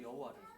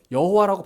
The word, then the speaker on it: 여호와: 그 전까지는 여호와라고 발음 안 하고 그냥 주님, 아도나이로 발음했어요. 그런데 AD 7세기부터 11세기, 그러니까 중세시대도 중세시대. 중세시대 때 마소라 학자들이 이거를 붙여서 이제 성경을 이제 필사를 하면서 발음을 여호와로 발음을 하게 된 거예요.